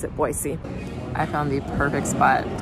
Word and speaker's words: Boise: actually just learned that most locals here pronounce it Boise with an S sound and we Outsiders say Boise with the z sound and I think either